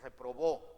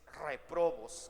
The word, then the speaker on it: réprobos: grupo de los réprobos así se le dice con acento en live no es reprobó es réprobos con acento en la y cuando c 37